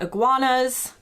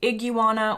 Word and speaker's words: iguana: If you see one in person and you've got Iguanas fun language fact, most Brits I've heard say Iguana whereas most Americans will say Iguana.